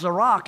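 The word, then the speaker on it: זֶרַח: Now, the word zerah, Strong's number 2226, pronounced zerak, it means to rise up like the sun does, to break out.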